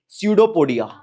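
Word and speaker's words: pseudopodia: Projection दे रखे हैं, स्यूडोपोडिया, P silent होता है, आगे स्यूडो चलता है।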